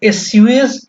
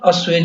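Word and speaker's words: assuage: अगला जो शब्द है वो है अस्वेज। इसको एस्यूएज बहुत लोग पढ़ते हैं, ठीक है? लेकिन इसका एक्चुअल प्रोनाउंसिएशन अस्वेज है।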